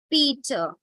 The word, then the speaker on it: Peter: divide it into syllable you divide it after e and so e is open-ended syllable and it will not say and it won't be better but it will be Peter similarly you can see